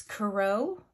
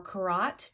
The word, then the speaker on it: Curott: This is the Witch's Wisdom Tarot, a 78 card deck and guidebook by Phyllis Curott or Curott, depending on how you pronounce it, and the artwork is by Danielle Barlow.